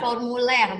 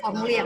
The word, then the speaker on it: formulaire: Bacanya tuh kalau Perancisnya formuler, bukan formulir ya.